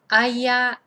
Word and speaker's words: haya: Haya, hayas, haya, hayamos. Remember, these have got a H, I'm just not pronouncing it.